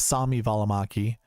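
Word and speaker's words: Välimäki: two golfers by the way 7K com bucket Samy valaki um or as he says Sami valaki which is weird I there's a huge finish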